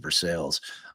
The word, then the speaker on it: Versailles: When Click called JB, uh he pulled over into the farm and garden in Versailles to speak or Versailles. Uh I think in Indiana they pronounce it for sales.